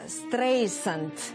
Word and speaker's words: Стрейзанд: В нынешней версии программы Siri произносит фамилию Стрейзенд через букву «З», через звук «З», тогда как на английском языке она читается через мягкий звук «С» – Стрейзенд.